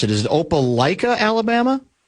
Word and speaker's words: Opelika: This is from 952 guy says he's been a long-term Minnesota guy, but thinking of moving to How do you pronounce it? Is it Opelika, Alabama?